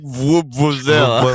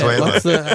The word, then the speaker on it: Venezuela: He said like Vuvuzela. Venezuela. Well, how do you say it? Venezuela.